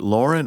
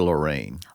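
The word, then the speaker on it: Laurene: Is it Lauren or Lorraine? Oh, maybe it is Lorraine. I thought it was Lauren. I mean, it's E-N-E.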